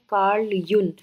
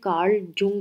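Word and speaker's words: Jung: Now coming to कार्ल यून। अगर इसकी स्पेलिंग देखें तो ये कार्ल जुंग लगता है, बट एंड प्रीवियस मेरे अगर आप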